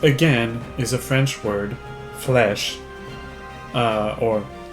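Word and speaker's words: Fleche: This, again, is a French word, flesh, or like literally pronounced like the word flesh, like the flesh you have on your bones.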